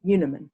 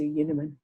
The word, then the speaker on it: Unerman: but as you know i prefer to pronounce my name yoonaman to uniman and very few people that don't know me know how i pronounce my surname and so when they